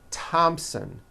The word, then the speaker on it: Thompson: Although these next words and names are spelled with a thron if they were spelled with a normal t like that. And these words are Thomas, Thompson, Teresa, Thailand, Tames, like the river, Esther, and time, which is a spice.